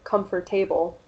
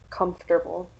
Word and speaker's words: comfortable: So students might say frustrating instead of frustrating, or comfortable instead of comfortable.